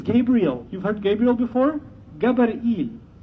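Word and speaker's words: גבריאל: Gabar'il. Gabar'il is how they pronounce it in Hebrew.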